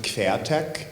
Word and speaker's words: Queertek: Just to say that I'm pronouncing it queer tech, but it's spelled Queertek. So actually you would pronounce it quertech, and that comes from a little word play, because in German, quer